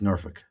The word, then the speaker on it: Norfolk: So you were actually in Norfolk. Yeah, You don't even say it right. It's Norfolk. they say So Norfolk, something like yeah, that.